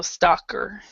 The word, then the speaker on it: stalker: down stalker it's it's spelled with a l but it doesn't you don't say the L so stalker it's like Walker but was St Walker okay so let's talk